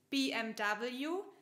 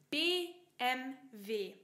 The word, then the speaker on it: BMW: Und das hier, das ist nicht BMW, auf Deutsch sagt man BMW, wie die deutschen Buchstaben, BMW.